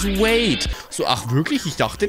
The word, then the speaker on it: Wade: Den spricht man gar nicht Wardl aus. Das ist American und man spricht das Wade.